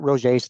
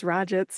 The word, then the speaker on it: Roget's: Oh man, I didn't know that's how you pronounce that. I thought it was Rajits or something.